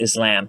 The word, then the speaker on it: Islam: Yeah, well, it's actually pronounced Islam.